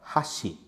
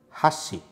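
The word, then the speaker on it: 箸: e com a letra xi só que a pronúncia correta dessa palavra é hashi hashi E aí olha só a diferença né Essa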